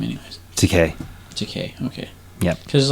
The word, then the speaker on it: Takei: No, because in Japanese, Ta is one character, Ke is another character, and E is another character.